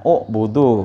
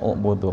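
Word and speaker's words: اُعْبُدُوا: Nah, ya, bukan u'budu, bacanya u'budu. Mari udah jelasin tuh, ya.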